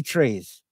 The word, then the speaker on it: trai: It's Resurrection and the Three Trees. And the three trees, each spelled T-R-A-I, pronounced tree.